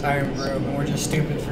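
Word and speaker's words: Irn-Bru: Oh, I guess the the Urn brews were actually pronounced Iron Brew, and we're just stupid for not pronouncing it properly.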